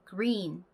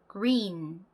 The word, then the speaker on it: green: 앞에 G 발음이 그 이렇게 존재감 뿜뿜하게 발음이 나질 않고요. 그냥 요 정도만 발음이 나요. 그래서 green, green 요렇게 G 발음은 존재감 없는 미약한 발음이 납니다.